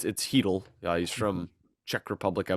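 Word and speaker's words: Chytil: It's spelled Chittle. If you're one of the people who say it that way, it's Heedle.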